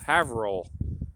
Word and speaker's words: Haverhill: one took place in haverhill haverhill havrell they pronounce it different ways up here never pronounce the way it's spelled with new england towns and cities so